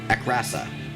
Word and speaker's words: Akrasa: Sorry, that's not a card that I've seen before, so, or maybe I have, the art looks familiar, but Akrasa is the way to pronounce that.